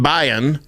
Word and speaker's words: Bayan: for a lady named Irene Bayan not biton they said it wrong we figured it out